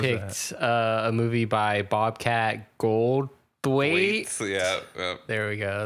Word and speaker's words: Goldthwait: I was picked a movie by Bobcat Goldthwait.